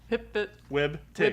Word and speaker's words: hpftwbtG: I don't hear the capital G in that pronunciation. Tig. I don't know. Hip fit wig tig. Hip fit. Hip fit Wib. Tig.